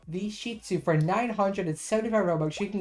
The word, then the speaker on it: Shih Tzu: to the adorable little, let me say it right, the Shih Tzu. I was saying it wrong in my update video. Really wrong, but I'm saying it right. The Shih Tzu.